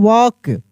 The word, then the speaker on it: walk: वैसे ही अगर लिखा रहता WALK, तो एल के बाद क्या है? के है। तो क्या हो जाएगा? यहाँ पे एल साइलेंट हो जाएगा, यानी इसको पढ़ते हैं हम लोग वॉक।